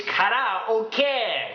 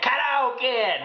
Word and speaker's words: karaoke: Did you know the word karaoke is actually not how you pronounce it? It's karaoke. Karaoke, not karaoke.